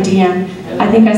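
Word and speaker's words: Deanne: That's how you say my name, Dian. I think I said just recently, I just said not Dian Sastro, Dian. But people see my name, mereka lihat ejaannya D-E-A-N-N-E, Din, nggak tahu gimana apa sebutnya.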